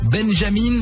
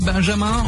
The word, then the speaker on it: Benjamin: Et d'ailleurs Camille Combal lui avait demandé comment on prononce son nom, Benjamin, Benjamin ou même Benjamin. Il avait répondu c'est au choix, c'est comme on veut.